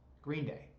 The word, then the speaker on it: Green Day: Green Day. King for a Day. So Green Bay is my favorite band of all time. Green Bay. Did I just say Green Bay? Yeah, I love Green Day so much that I mispronounced their name.